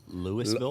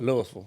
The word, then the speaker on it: Louisville: bourbon so I'm sorry Lewisville Louisville okay all right yeah now it's not Louisville it's not Kentucky but it's Louisville Louisville Louisville yeah yeah you can't